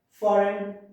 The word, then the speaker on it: foreign: In silent G, you don't have to pronounce G letter, like foreign, champagne. We should say champagne, sign, fail. Foreign, champagne, sign, and fail.